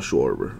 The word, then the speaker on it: Schwarber: that's not how you say his name Kyle schwarber okay I like to have fun sometimes Dustin